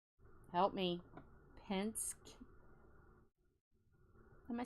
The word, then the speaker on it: Penske: Penske.